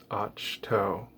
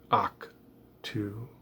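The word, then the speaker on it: Ahch-To: as a side note och toe is one of the place names that i frequently mispronounce i have heard mark hamill say and i have also heard people say akh to decimating the sith when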